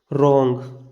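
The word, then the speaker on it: wrong: ये लिखा हमने आर से पहले डब्लू साइलेंट होता है। अगर आपको आर से पहले कहीं डब्लू दिखे तो वहाँ पर हम डब्लू का उच्चारण नहीं करते। जैसे रॉन्ग, ये लिखा हमने रे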